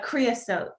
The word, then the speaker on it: creosote: We tend to want to make it sound more exciting, but it's simply creosote.